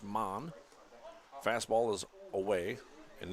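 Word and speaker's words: Maugh: it's spelled m a u g h an pronounced man fast ball is away and in the dirt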